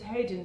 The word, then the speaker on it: Hodan: Well, if you said Hodan to my mum, she's heard it because obviously that's how Western people pronounce it. But that doesn't resonate with her, and also it doesn't resonate. That's not my name.